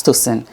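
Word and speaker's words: Tocyn: C Y N pronunciation is sin, you know, as toen.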